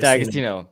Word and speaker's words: D'Agostino: D'Agostino.